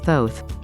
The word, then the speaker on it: Thoth: was the chosen as thoth it is pronounced as oath with a t we are those who